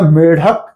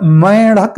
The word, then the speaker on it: मेढक: शब्द है मेंढक या मेढक तो देखें ये मेढक ये ढ है ड नहीं है यहां हम ये नहीं लगा सकते हैं इसलिए मेढक मेढक मेढक नहीं कहते और मैड़क नहीं कहते इसलिए इस बात को